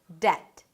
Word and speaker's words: debt: The next word is 'debt'. That's an easy word to pronounce but is commonly mispronounced because, you got it, of the spelling.